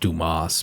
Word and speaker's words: Dumas: during act 3 you team up with alexander dumbass to protect paris now i know it's pronounced dumas but the reason i'm calling him dumbass is